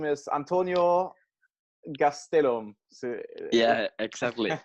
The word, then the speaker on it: Gastelum: Your full name is Antonio Gastelum. So, yeah, exactly. you pronounce it better than the people from Mexico. Oh. People from Mexico call it Gastelam.